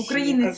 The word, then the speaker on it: українець: живём мы в росси українець є правильно наголос в російській мові В орфографії написано як